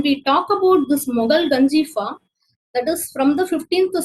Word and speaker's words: Ganjifa: So we have to pronounce Ganjifa only, not a ka sound. It is Ganjifa.